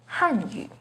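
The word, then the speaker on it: 汉语: The pinyin and tone for Hanyu is with the 4th falling tone on Han, Hanyu. The pinyin and tone for Hanyu has a 2nd rising tone on Han, Hanyu.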